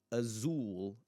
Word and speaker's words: azul: Well, the word Azul and Ootil for example, this is the clearest example, is that words that end in L in Portuguese, that syllable where that L is is the accentuated syllable.